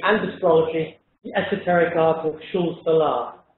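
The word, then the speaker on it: Xul Solar: astrology the esoteric article Schulz Salah in Argentinian Spanish the painter whose name I'm whose work I'm looking at is pronounced schul salah.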